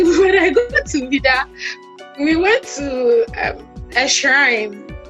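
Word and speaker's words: Ouidah: Okay, that's how they pronounce it. Vida.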